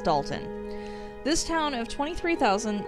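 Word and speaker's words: Dolton: because there's an o there but apparently it's pronounced dalton this town of 23 000 seems like a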